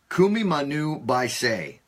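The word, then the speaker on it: Kumimanu biceae: So what I did tonight is I went to YouTube to find the correct pronunciation of this bird. And it's Kumimanu baisei.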